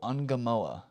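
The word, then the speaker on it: Ngumoha: Rio Angamoa, but it's spelled NGU.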